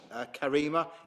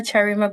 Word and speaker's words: Charima: It's Charima, but it's all right.